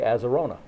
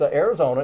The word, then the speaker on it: Arizona: state of Arizona or some people would say aerona but then they would have said it wrong anyway that's Arizona is the answer to